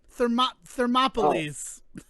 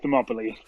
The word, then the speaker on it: Thermopylae: Thermopyles. Yeah, that's the pronunciation we'll take. Thermopylae.